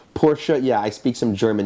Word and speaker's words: Porsche: a Porsche gu and by the way my pronunciation porsa yeah I speak some